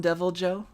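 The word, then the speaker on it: Deviljho: definitely topped here like tempered i call him devil joe i mean that's how you pronounce it uh devil joe uh no not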